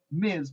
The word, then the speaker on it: Ms: in our culture when the word miz was introduced miz pronounced the z with which is spelled ms pivoting away from miss